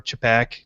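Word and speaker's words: čapek: is a newly created capek or chipak depending on how accurate you want to be with the pronunciation and she is basically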